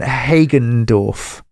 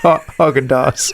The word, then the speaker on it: Hagendorf: Her name's Alison Hagendorf. Yes, and Hagendorf. Yeah. And you said Haagen-Dazs.